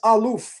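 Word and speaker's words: אלוף: Then when you go into the book of Genesis 36, which describes the Edomite chiefs, the word used for chief is aluf, or alufim in the plural, but aluf in the singular.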